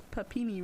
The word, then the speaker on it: Papini: It's Papini, right?